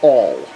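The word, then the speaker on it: awl: use of this is called an all a WL usually it's spelled it's basically just a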